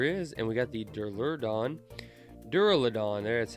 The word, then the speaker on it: Duraludon: And we got the Duraludon, that's how you say it.